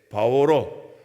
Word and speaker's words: 바울: 여러분 받았으면 좋겠다 싶은데 사울은 이스라엘 언어인 히브리어로 발음할 때 사울이고요. 그리고 바울은 그리스, 헬라어로 발음할 때 바울로, 파울로스 이렇게 발음할 때 바울 똑같은 이름입니다.